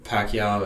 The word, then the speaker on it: Pakyow: you know have a strong preference are there Pacquiao is my preference but some people talked about